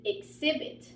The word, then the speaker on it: exhibit: this one we are not pronouncing the age it is exhibit so it's like you're ignoring the H exhibit all right and exhibit